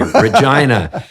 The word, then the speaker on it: Regina: And they always have these t-shirts that say Regina rhymes with fun.